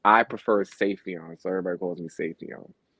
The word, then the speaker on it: Siefyan: The acronym is really Siefyan because it's Arabic. Because I'm half Arabic, Oh, you're half. but it's I prefer Siefyan, so everybody calls me Siefyan.